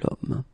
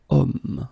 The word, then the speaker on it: homme: vowel because, of course, if you look carefully, you've got H here. Okay, and it's not a vowel at all. But then in French, we don't pronounce it. So the first thing that you hear, it's so it's O, it's the vowel here.